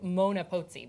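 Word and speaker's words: Moana Pozzi: Actually, she passed away in 1994, but her name was Mona Pozzi, but it's spelled the same, Moana.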